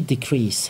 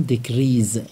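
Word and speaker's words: decrease: بعضی ها اینو میخونن دیکریز. غلطه. ببینید درسته. بین دو تا حرف صدادار گیر کرده. ولی اینجا استثناءات ز تلفظ نمیشه. اینجا سه تلفظ میشه.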